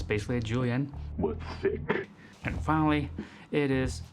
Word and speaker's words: julienne: other one the other very fancy name julienne but you can just pronounce it julianne like i do and you'll be okay too essentially there's just strips